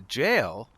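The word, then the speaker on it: gaol: you start out in the jail and it's spelled like you know g a o l uh and the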